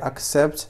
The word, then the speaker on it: accept: فمعنى فعل accept معنى قبل accept. فهنا سي تنطق على الشكل كاي.